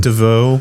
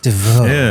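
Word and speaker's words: Desveaux: And uh you got Brian, how do you pronounce that last name? Dvau. Dvau.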